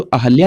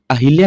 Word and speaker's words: अहल्या: पूछा गया है और ज्यादातर लोग इसका प्रोनाउंसिएशन अहिल्या करते हैं और ये इसको गलत कर देते हैं। सही प्रोनाउंसिएशन होगा अहल्या, ये बिल्कुल सही है।